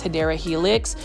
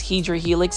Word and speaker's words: Hedera helix: For those that are new to my channel too, I mispronounce Hedera helix as Hydra helix.